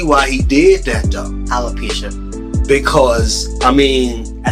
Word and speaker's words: alopecia: i can see why he did that though alopecia because i mean i said it right correct alopecia i think that's what she has but i